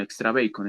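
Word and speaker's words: EXTRABACON: llamada extra bacon bueno extra bacon es la pronunciación correcta era una herramienta pues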